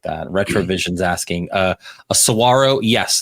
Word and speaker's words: saguaro: Retrovision's asking, a saguaro. Yes, that is a saguaro, and that is how you pronounce it, not saguaro, all that stuff.